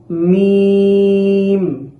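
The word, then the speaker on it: ميم: এখানে শুকনো অংশ বলতে এইভাবে খুব চাপ দিয়ে মিম এরকম ভাবে উচ্চারণ করা যাবে না। এখানে মিম, মিম।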